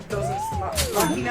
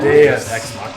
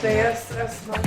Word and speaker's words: Deus Ex Machina: What is it? Dosage Machina? I think it's how you say it. Deus Ex Machina. Deus Ex Machina. Come on.